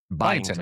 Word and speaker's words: Byington: Byington.